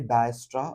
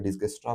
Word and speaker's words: Dijkstra: डायस्ट्रा algorithm इसको डायस्ट्रा algorithm भी बोलते हैं या फिर डिस्कस्ट्रा एल्गोरिदम भी बोलते हैं। ठीक है? प्रोनाउंसिएशन बहुत डिफरेंट है। आपको जो कंफर्टेबल लगे आप बोल लीजिए। ठीक है? कोई ऐतराज नहीं है। कोई डायस्ट्रा बोलता, कोई डिगस्ट्रा बोलता। दोनों भी करेक्ट प्रोनाउंसिएशन है।